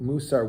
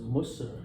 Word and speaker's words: Musar: I can I sometimes use an Israeli pronunciation, sometimes a Yiddish pronunciation. No, because Muser has a very different connotation than everything you've been talking about up until now.